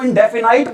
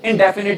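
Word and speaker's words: indefinite: लेकिन कई लोग बेटा स्पेलिंग के अकॉर्डिंग इसको इंडेफिनाइट बोल देते बेटा, लेकिन आपने इसको इंडेफिनाइट नहीं बोलना। क्या बोलना है बेटा? आपने इसको इंडेफिनिट ही बोलना है।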